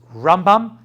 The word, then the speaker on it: Rambam: yeah ramban the way it's rambam and ramban way you pronounce it's different I learn you Shiva